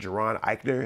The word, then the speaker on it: Jaron Ikner: You're watching the heat check with Geron Iikner. That's J A R O N Iikner. Don't be saying my name wrong.